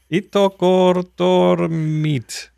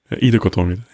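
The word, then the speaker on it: Ittoqqortoormiit: And that is, you want to pronounce it? Yeah, that is Itokortormit. Very well, very well. Nice. That was the slow version. How does the fast version sound? Itokortormit.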